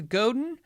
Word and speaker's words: Godin: I've had 2 conversations with Godin over the years. Both conversations were when I did the how do you say their name, which is Godin.